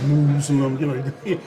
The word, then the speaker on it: Muslim: And the word Muslim, some people say Muslim. Some people say Muslim. But the proper is Muslim.